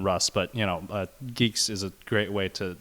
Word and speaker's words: Guix: you do UI x but it's it's it's pronounced geeks I it was very confusing for me as